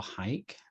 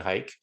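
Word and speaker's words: HEIC: you're shooting jpeg or hike and i'm sticking with the height pronunciation by the way i don't care what apple says apple pronounced it heat i'm saying hike let's make hike happen everyone um if you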